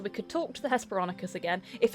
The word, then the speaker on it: Hesperonychus: Hesperonychus, there we go.